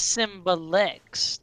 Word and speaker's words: Symbelex: No, my name is Symbelex, not Symbelia.